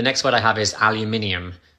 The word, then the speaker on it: aluminium: what i have is aluminium it's a metal aluminum no aluminium aluminum you're losing a syllable aluminium aluminum